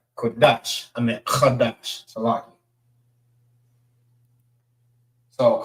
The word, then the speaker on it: Qadash: Not Qadash, but Qadash. Qadash is how you say month.